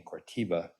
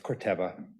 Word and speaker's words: Corteva: i just just decided i heard people talk about it being cortiba it's not pronounced that way it's corteba big supporters in the